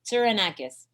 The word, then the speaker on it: Tsourounakis: Tsourounakis. Tsourounakis.